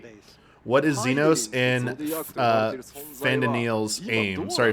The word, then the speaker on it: Fandaniel: I forget how they pronounce it. been Sorry. Fandaniel.